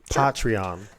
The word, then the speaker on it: Patreon: weird every single time because that's how it's pronounced patrion so um but other